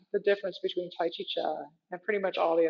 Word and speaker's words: Chih: The third word is pronounced cha, like chuck wagon, but it is spelled C-H-I-H, sort of like chi with an H on the end.